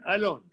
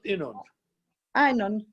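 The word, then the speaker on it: Yinon: Einon. Not Enon.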